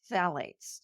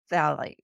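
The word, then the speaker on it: phthalates: can mimic estrogen are phalates now this is spelled pH t h a l a t s but it's pronounced phet used to make Plastics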